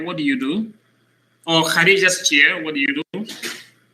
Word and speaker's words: Khadija: But because of the ta, you don't pronounce the ta. Instead, you pronounce it like a ha. Kursiyu Khadija.